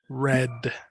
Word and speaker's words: read: is past simple i read read this red right this one is an irregular verb a change in pronunciation i read yesterday's newspaper